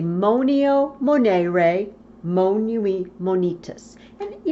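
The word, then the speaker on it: monēre: to stress that long e I like to pronounce it Monet ray so I say Moneo Monet ray mo nuit Monique tiss you know it kind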